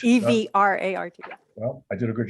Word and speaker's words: Evrart: that was made by, is it Eviat? Is that how to pronounce it? I botched that? The first name, Eviat? I hope so. It's Evrart. Evrart. E-V-R-A-R-T.